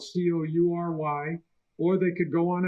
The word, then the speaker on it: Coury: Coury is spelled Coury, or they could go on Amazon and order the book.